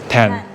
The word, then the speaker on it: Tan: So I pronounce it as because Mandarin. Okay. But apparently in Thai is Tan.